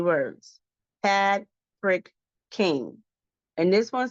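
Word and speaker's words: Pad Prik Khing: Pad Frick King.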